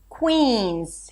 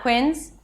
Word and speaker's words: Queens: Here we have a C- sound and a W. Qu. And then we shift to a high E as in C. Que. It's not quins Quins, but qu. So, it needs to be a little longer than what you're used to probably.